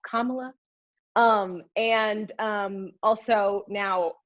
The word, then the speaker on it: Kamala: still mispronouncing her name it's not kamala it's not camella it's not pamela it's kamala um and um also